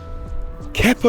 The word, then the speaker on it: Kepa: Kepa Arrizabalaga, as Ty pronounced it, Arrizabalaga, silent Z, is very good business.